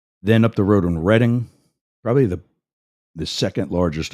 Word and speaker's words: Reading: reading is reading a book but it's actually pronounced reading I think it's British actually because there's a